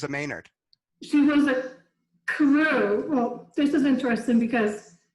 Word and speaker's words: Carew: And I figured out that Carey is an older Irish pronunciation of Carew, which was why that pronunciation came down through Flat Rock, which was a very Irish community for many years.